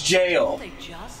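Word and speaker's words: gaol: That word, that G-A-O-L, is jail. Wait, where? Yeah, it looks like gold, the G-A-L. Yeah, they pronounce it here. Yeah, but they pronounce it here as jail.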